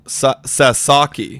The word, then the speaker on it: Sasaki: way back apparently uh we're we're mispronouncing apparently it's s Sasaki Sasaki Sasaki okay apologies guys